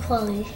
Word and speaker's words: Kweli: Talib Kweli. Who? Talib Kweli. Kweli. Talib Kweli. Kweli. Kweli. Pull up, cut. Yeah, you pronounce my name.